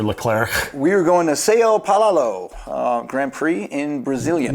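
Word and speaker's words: São Paulo: we are going to SEO palalo uh Grand Prix in Brazilian one more try Sayo poino it would be sa paoo Brazil you nailed it braz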